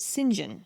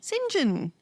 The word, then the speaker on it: St John: her cousins is named singen which is spelled St John and so that's quite confusing but apparently because it came from French we pronounce it singen singen yes he tries to